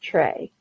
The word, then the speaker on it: TRE: and equity focused and took the first three letters of those three terms t r e and chose to pronounce it trey and once we had